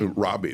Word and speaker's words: Roby: I think the young man's first name is Roby. Is that how you pronounce it? Robbie, maybe? Robbie, there we go.